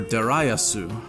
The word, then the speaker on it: Darius: Apparently, it's supposed to be pronounced Darius or Dariusu, but I'm a dumb American and I'm gonna pronounce it like one.